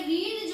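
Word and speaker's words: read: verb की third form तो ये रीड जो है बोलेंगे रेड लेकिन स्पेलिंग यही होती है रीड रेड रेड ठीक और प्लस बाय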